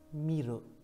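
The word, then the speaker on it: 見る: Miru. Çince okunuşu ken.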